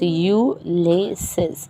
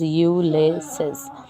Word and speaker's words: Ulysses: is a poetry here the poetry is ulysses u laces so while pronouncing just remember how you have to pronounce the word that is you laces okay it is written